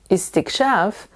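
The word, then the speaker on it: استكشاف: But actually, there is only one possible way to pronounce this word, as it is the masdar of a verb that belongs to the 10th form.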